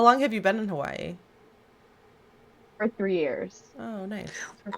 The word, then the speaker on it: Hawaii: Like she says it's not You don't pronounce it Hawaii. It's I can't I can't do it. Hawaii. Hawaii. Hawaii. She says it like that. Yeah. Like the Because here there's um there's a mark between that the two eyes and